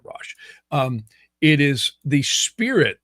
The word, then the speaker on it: ruach: And the rash or some people pronounce it ruach but I' I've always heard it rash.